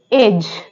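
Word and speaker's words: edge: पे साइलेंट होगा okay for example एज एज में जो डी है वो साइलेंट है जैसे वर्ड है हेज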